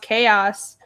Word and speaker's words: KAYAS: SBRB says KAYAS should be pronounced chaos. But it's a real word though.